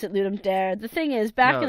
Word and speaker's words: Ludum Dare: lewd and dari and the guy pronounced that Ludum dare I so I said okay that's what it is and it's it's lots of it's Latin for to give a game so I wasn't really